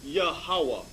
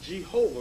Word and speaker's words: Yahawah: use the consonant W and use the consonant W remember it said that the Hebrew alphabet was consonant go ahead instead of V instead of B so what does this proof that the name of the Lord is yahawah not Jehovah read on it says